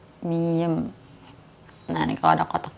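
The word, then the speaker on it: 미음: Ini kita bacanya M ya. Ya mama, masih, mulai ya, M. Cuman ini kadang-kadang nanti ya kalau kita belajar baca, M ini suka kedengerannya kayak B, miem gitu.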